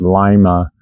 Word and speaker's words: Lima: So this is again day 22 23 24 the town of uh actually it's supposed to be pronounced Lima.